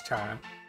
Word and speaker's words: Chara: I assume you do with the name determined Chara or Kara? No, it's Chara. It's about streaming time. Probably gonna end stream after this conversation. Now what are you gonna say? Nah. It's pronounced carrot.